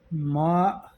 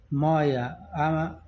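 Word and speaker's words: ماء: ما یا مویا عام لہجے میں اسے مویا کہتے ہیں، لیکن اصل لفظ ہے ما.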